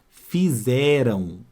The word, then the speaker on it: fizeram: duas vogais olha lá olha o som vê se não é esse aqui ó fizeram fizeram o som é esse aqui então este M não está nasalizando o ar que vem antes ele em si já tem esse somzinho de U então fizer Não por